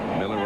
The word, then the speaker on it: Mueller: and by the way although he spells his name Muller yeah he pronounces it Miller and I asked him